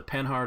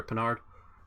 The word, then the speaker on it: Panhard: Okay, yeah, this is the Panhard or Panhard, sort of how I pronounce it, armored car.